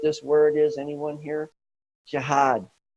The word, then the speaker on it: jihad: word is anyone here jihad that's how you say it in Arabic and that's another study